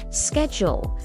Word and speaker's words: schedule: This word has two common pronunciations. We'll practice the American one first. Schedule. Schedule. And now the British way, schedule.